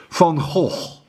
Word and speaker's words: Van Gogh: Let me pronounce his name correctly. Van Gogh.